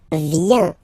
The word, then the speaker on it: vient: Okay, then il, elle, vient. Final T not pronounced.